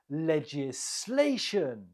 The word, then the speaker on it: legislation: you say it legislation legislation the stress is on the third syllable legislation number three how